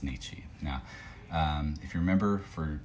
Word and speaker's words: 日: For day, say sun / day, the main readings that you're gonna see are gonna be Nichi, not Frederick. And occasionally you're going to see Jitsu. You don't see that as often, but the pronunciation is Nichi.